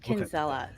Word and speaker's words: Kinsella: the name correctly yes kinzella straight up exactly as it looks well before we dive